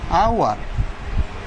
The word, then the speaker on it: hour: Now transparent example, like this, hour. Her first letter of the word is H. H is consonant, কিন্তু তার উচ্চারণটা হয়েছে H-টা silent, hour ভাওয়েলের মতন।